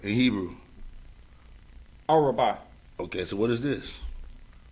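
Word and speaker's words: ארבע: Araba.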